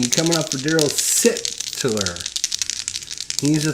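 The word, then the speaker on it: Darryl Sittler: It's Daryl Sittler. Sittler. There. How's that? So Daryl Sittler is going to get a shot C coming up. All right, here we go. Shot C coming up for Daryl Sittler.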